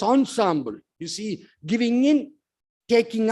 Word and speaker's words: ensemble: among the characters that is called Ensemble acting e and s e m b l e but pronounced as Ensemble you see giving in